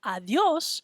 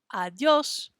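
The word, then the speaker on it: adiós: word adios adios so when we see those little accent marks that will help us out to know how to pronounce it it tells us where to put the stress on a word stress means say it a little bit louder and a little stronger right there adios adios so you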